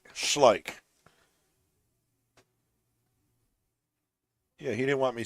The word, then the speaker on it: Schleich: old one ball Hill how do you pronounce Andy's last name it's schlik schlik yeah he didn't want